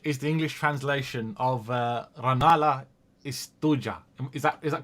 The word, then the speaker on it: Rannalla Istuja: First of all, you have to, when there's a J, you say y like Y in English. So it's istuja. And you always stress the first syllable.